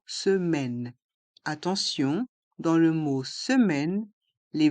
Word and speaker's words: semaine: attention dans le mot semaine les voyelles a et i se prononce e se se m un